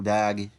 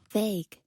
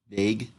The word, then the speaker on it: vague: Demonstrates the value or vag. Is that how you say vag? Or how do you say that honestly? Vague. Vague. Okay, thank you.